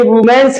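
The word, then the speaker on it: women: तो वुमेन वीमेन का ध्यान रखो, इसका उच्चारण वीमेन है, इसका वुमेन है, तो वुमेन आ गया, तो डज थर्ड पर सिंगुलर हो गया, does वुमेन read a book.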